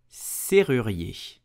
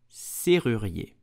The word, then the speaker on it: serrurier: You will say serrurier. Serrurier. Now let's break it down. Serrurier. Yé. Serrurier. It's a free syllabus. Serrurier. Please practice at home. Did you know that if we live in France, serrurier are sometimes a bit scammy?